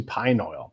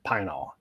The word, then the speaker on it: pine oil: It's actually pine oil, but everybody calls it pine-all. And sometimes it's one syllable.